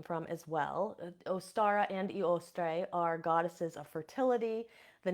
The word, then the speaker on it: Eostre: to the Saxon goddess eostre sometimes pronounced ostre and the name oara